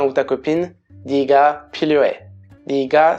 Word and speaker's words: 네가: 네가, c'est no, tu, avec la particule de sujet, ça s'écrit 내가, mais ça se dit généralement 네가.